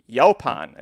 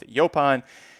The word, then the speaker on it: Yaupon: purse of 150 000 yaupon is how i heard it pronounced so that's what we're going to go with yopon he was a 7-5